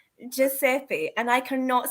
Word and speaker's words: Giuseppe: I can um everybody say it after me Giuseppe okay thank you for that what are you